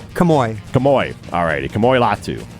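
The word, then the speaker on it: Kamo'i: latu how do you say his first name camoy camoy all righty camoy latu I didn't know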